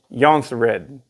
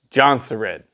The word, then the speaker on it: Jonsered: Jonsered, it's Jonsered. Or if you're in America, you can go ahead and pronounce the J as a J, Jonsered.